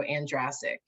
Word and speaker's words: Andrasik: Uh it's andic rhymes with Jurassic. So Andraic. Okay. Um so uh today you all we have a special guest Dr. Dr. Michelle Andraic.